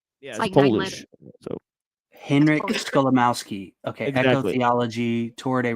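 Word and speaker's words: Skolimowski: It's just it's spelled exactly how it sounds. Gotcha. It's like my last name. Yeah. So, Henrik Scholamowski.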